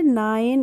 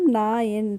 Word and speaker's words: nine: नाइन। इसे नेने नहीं पढ़ेंगे, इसको पढ़ेंगे हम नाइन, तभी तो आइन की ध्वनि आ रही है इसमें।